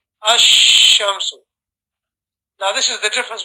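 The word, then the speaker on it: الشمس: Whereas a shamsi letter, the lam is joined onto the letter, the main letter itself, and you read it as one combination.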